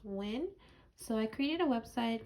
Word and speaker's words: Huynh: Last name is HuynH, and it's pronounced Win.